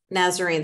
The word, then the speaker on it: Nazarene: So let's start off with you telling me about, Nazarene, is that how you pronounce it? Yeah. Nazarene.